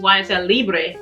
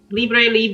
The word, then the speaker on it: Libre: of a leave but you do pronounce it as a french form which is leap so it's why i said lib libre leave they both mean the